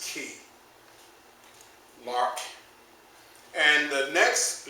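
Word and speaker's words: chi: also as common tongue twister for me is pronounced key and I use the word chemical warfare like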